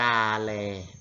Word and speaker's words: กาแล: ครับ ทำ ที่ 1 คำ ว่า กาเร อ่าน ว่า กาแล อ้าว หมาย ถึง แผ่น